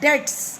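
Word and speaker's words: debts: दो zoo pace of डेट्स बीच में silent होता है बेटा इसे डेली बोलना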